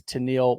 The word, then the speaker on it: Tenille: Tanil, welcome to the show. Hi. Am I pronouncing that right?